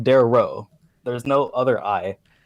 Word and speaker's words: Daario: not good REO ba you're adding an extra syllable there it's King Darrow there was no other